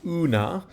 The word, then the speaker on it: una: we can start with this word una which is UNA with a long a it's an adverb that